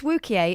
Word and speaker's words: Wookiee: Also, it's Wookiee, it rhymes with Boukier, not rhyming with spooky.